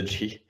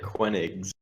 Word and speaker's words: Koenigs: He's calling the K a Q. That's definitely. No, wrong. I'm pronouncing it Koenigs.